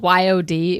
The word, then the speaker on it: Yod: It was spelled Y-O-D. It was pronounced Yod. Okay. It's his self-given name. Rhymes with chode.